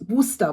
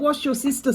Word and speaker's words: Worcester: heard well you know it's Worster people pronounce it so many different ways but it is Worcester Shear sauce not wash your sister sauce okay now our next